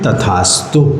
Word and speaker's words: तथास्तु: जब आप ये उच्चारण करते हैं श्री शांतिरस्तु, तो आप लोग क्या बोलते हैं? क्या बोलते हैं आप लोग? सदास्तु। सदास्तु। हाँ, आप लोगों को यहाँ पर बोलना है तथास्तु।